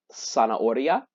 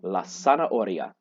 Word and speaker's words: zanahoria: some reason, is la zanahoria. Zanahoria. Remember, in Spanish, a Z does not go zzz, it just goes sa. And an H is silent, so we have la zanahoria.